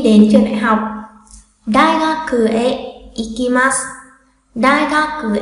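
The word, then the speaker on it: へ: Trường này cũng tương tự, chúng ta dù viết là he nhưng không đọc là he mà sẽ đọc là e, chữ e thôi nha, đọc là e.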